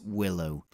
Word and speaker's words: WLO: Microsoft ported a subset of the Windows libraries for OS2, given the acronym WLO, but pronounced as Willow.